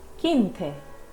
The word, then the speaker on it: quince: When Q has UE after it, it gives us a K sound, and when Q has UI after it, it gives us a key sound. The letter U is not pronounced over here.